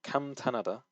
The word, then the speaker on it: 감탄하다: Okay, so that was one of the so first word was 감탄하다. You need to make sure the nian is coming out, and you're not just like skipping over the word because when you say